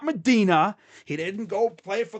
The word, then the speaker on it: Medina: That's how their people say it up there. The people that live there, that's how they say it. Medina, not Medina. They ain't playing in Israel or Saudi Arabia or wherever the holy site is. Next to Mecca, it's Medina.